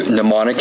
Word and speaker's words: mnemonic: of information right so pneumonic is pronounced like demonic but with the n in place of the D and there's also an M thrown in there in the beginning but the m is silent so what are some